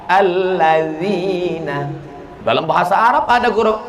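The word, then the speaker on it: الذين: Alat zina. Loh, kok menjadi alat zina? D sama Z itu bacanya la. Allazina.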